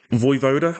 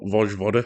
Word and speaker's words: Vojvoda: Voivoda, I believe his name is how it's pronounced anyway, not Vojvoda, which I can't stop reading, would remain as the